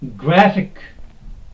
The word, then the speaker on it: graphic: Okay, then we have graphic. Graphic. The word ending in IC. Graphic. The first syllable, the second from end. Okay, it is here. Gra. This will be stressed.